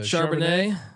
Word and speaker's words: Charbonnet: winnable zak uh charbonnet how do you pronounce it charbonnet michigan translation nice little glass of chardonnay it's front yeah there